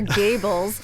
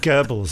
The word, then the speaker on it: Goebbels: Gables. Goebbels, isn't it?